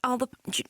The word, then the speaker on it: Alba: party the Alba party it's gelic it's actually pronounced Alba never mind so what are our plans to